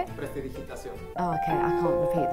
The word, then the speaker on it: prestidigitación: Prestigitación? How do you say it? Prestidigitación.